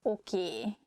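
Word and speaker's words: oké: learn something okay okay this word comes from english probably it's easier for hungarian speakers to pronunciate it that way so we just say a sound a at the end so it sounds okie instead of okay hosnal to use telephones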